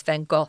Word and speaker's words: van Gogh: now you know that the real pronunciation at least in his own country is van Gogh indeed and of course